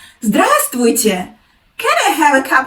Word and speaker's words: здравствуйте: I don't pronounce like that. I pronounce without the letter «v» in the word.